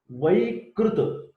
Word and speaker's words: Vaikruta: Prakruta Vaikruta. There is a difference in Vikruta and Vaikruta. Each and every examiner will try to make you confused. Vikruta is pathological. Vikruta. This is Vai, V-A-I. Vaikruta is also called as Ahara Sambhavaja Dosha.